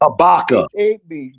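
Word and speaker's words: Habakkuk: No, it's pronounced Habaka. Habac.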